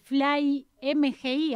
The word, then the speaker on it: Fly MGI: Queríamos conocer un poco primero cómo surgió esta idea de Fly MGI, así se pronuncia.